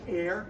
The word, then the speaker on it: heir: you pronounce this even it looks like here h-e-i-r but it's pronounced air it's one of those